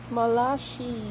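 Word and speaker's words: Malachi: ha zikaria or malashi Malaki o Malashi? How to pronounce it? Malashi.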